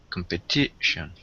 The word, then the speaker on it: competition: compete compete okay comp competition is four syllables where is the stress in competition first second third or fourth third third is correct and what about the